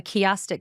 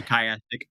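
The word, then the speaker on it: chiastic: this has uh a kiastic structure and or is it kayastic or kiastic? I never know how it's pronounced. I hear it both ways. I say kayastic.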